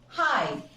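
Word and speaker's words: high: है हमारा रीज़न कि अगर जीएच या जी एचटी किसी भी वर्ड के लास्ट में हो तो जीएच साइलेंट होता है सी हाई एट हाइट फाइट Thai फ्लाइट देखो इन सारे वर्ड्स में यह जी ए साइलेंट है फ्रेंड्स सो दिस इज़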